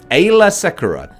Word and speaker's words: Aayla Secura: First of all, we've got Aayla Secura. Aayla Secura. There you go, said it right first time.